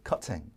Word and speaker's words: cutting: 근데 영국 발음은 T 발음을 해줘. 우리는 윤활유가 싫어. 이렇게 빳빳한 걸 그죠? 아주 날이 서 있는 이런 걸 좋아해. 그래서 이제 cutting 이렇게 발음하고요.